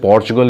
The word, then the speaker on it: Portugal: कुछ लोग इसको पोर्चुगल भी बोलते हैं, लेकिन देसी लैंग्वेज में पुर्तगाल भी बोला जा सकता है। वैसे पोर्चुगल इज़ the right pronunciation for इट।